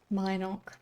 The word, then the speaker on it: Minnock: Let's Where go would you like to Minnock. Minnock. No, Minnock. Not how I've been pronouncing it, but I guess that's the official pronunciation.